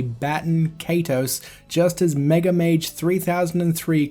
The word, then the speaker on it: Baten Kaitos: Welcome to Baten Kaitos. So there you have it, folks. The official English pronunciation is Baten Kaitos.